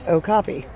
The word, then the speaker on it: okapi: Okapi. Pronounced okapi.